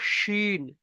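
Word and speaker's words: شين: এটা হালকা আওয়াজ সিন, এটা মোটা আওয়াজ শিন।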